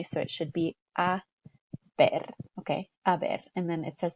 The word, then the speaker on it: a ver: bat here is that this is not pronounced haber or haber or anything that sounds like that. Remember, our H is always silent in Spanish, and then our vowels are always pronounced exactly the same way.